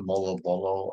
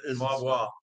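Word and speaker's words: Moalboal: I go up to Molo Bolo and... wait, say that again? Molo Bolo? Is that right? I don't know how to pronounce it. Moabwa. Yeah, there you go.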